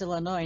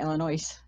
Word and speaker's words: Illinois: Well, Illinois is Illinois, not Illinois. Yeah. Yeah. I saw a meme about that the other day, and I thought of you. Oh, It's Illinois.